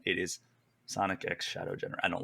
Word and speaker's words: Sonic X Shadow: The X is pronounced Sonic X Shadow. It's not cross. It's not silent. It is Sonic X Shadow Generation.